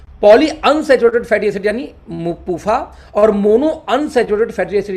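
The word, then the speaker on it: PUFA: तो पूफा शॉर्टकट में हो गया, पी यू एफ ए, इसको शॉर्टकट में पढ़ेंगे पूफा।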